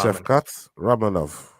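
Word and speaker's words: Shavkat Rakhmonov: one all repeat after me Chef cat ra Chef cat ranov there you go Chef cat ranov that's how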